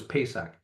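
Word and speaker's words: Pesach: Feast of The Seven Feast is Passover or pronunciation in the Hebrew is pesak it's the day of Liberation when you finally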